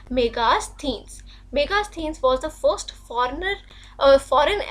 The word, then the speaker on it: Megasthenes: इसको Megasthenes भी बोलते हैं, इसकी proper pronunciation है Megasthenes।